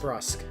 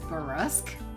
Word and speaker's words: brusque: My brain always switches where the U and the R are, so I always think it's brusque, Nope. which it's not. It's not.